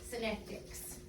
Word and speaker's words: Synectics: I'm learning something called Synectics. Can you say that with me? Synectics. Synectics. It's spelled on the board.